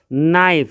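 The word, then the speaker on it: knife: नाइफ, इसमें के silent होता है, नाइफ मीन्स चाकू, तो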